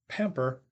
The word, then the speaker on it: pamper: the second syllable while the verb pamper has stress on the first syllable in English so exceptions